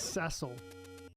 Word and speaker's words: Cecil: for the for the According to the voice actors who did the voiceovers for the FF4 3D remakes, it's Ceil, but I always used to pronounce it Cecil as well, so I totally get it.